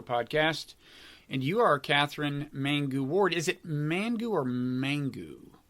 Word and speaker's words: Mangu-Ward: So it's Katherine Mangu-Ward.